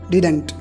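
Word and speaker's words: didn't: डिडंट। ठीक है, आप इसको डिडंट या डिंट भी पढ़ सकते हो। इसके 2 प्रोनाउंसिएशन है, एक तो डिडंट, दूसरा डिंट। रूल पर आते हैं सीधे।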